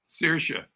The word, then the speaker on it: Saoirse: So how do you pronounce her name? Saoirse.